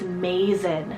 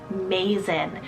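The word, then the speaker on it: Mazen: for the boy side is Mason spell m-a-z-e-n Mason and this one's Arabic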